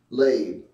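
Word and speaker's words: לב: The word lab is 3820, which means heart, mind, will, and inner man. And it's spelled L-E-B, lab, number 3820, which means heart, mind, will, and inner man.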